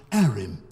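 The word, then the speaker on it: Harrim: But while we remain in this transient world, Arim is at your service. Apparently the H is silent.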